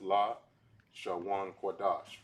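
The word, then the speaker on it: Lashon Kodesh: This says at the upper left-hand corner, this is pronounced as La Shawan Kodash, which is translated as holy tongue.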